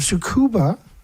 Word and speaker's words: Tsukuba: Anyway, so this one by edited by Lisa Lock, the University of Sukuba. The T is silent, I think.